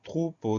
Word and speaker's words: troupeau: Le mot suivant, c'est le mot troupeau, deux syllabes. Première syllabe, trou, T-R-O-U. Là, on entend toutes les lettres. Trou, T-R. Après, on a OU, O-U. Deuxième syllabe, po. Le son O s'écrit E-A-U.